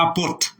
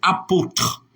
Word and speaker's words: apôtre: merci frè Val exemp apôtre c'est pas apôre c'est apôtre apôtre bravo merci pour l'exemple